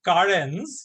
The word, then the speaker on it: Karens: This is the Karens, pronounced exactly like that.